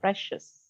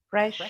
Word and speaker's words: precious: C followed by many vowels is pronounced as a sh sound. Sh sound. Let's Special. practice those words again. Special. Special. Financial. Financial. Financial. Financial. Precious. Precious.